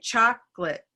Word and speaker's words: chocolate: so i also say chocolate that's my natural i feel that's my natural way um who else hold up fingers who says chocolate three syllables if you're a three syllable person if you're not sure